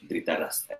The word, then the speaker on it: Dhritarashtra: ¿Cómo se pronuncia? Dhritarashtra, rey ciego.